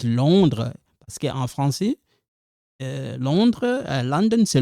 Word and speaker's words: Londres: Vous êtes de Londres. Silent, we don't pronounce that S.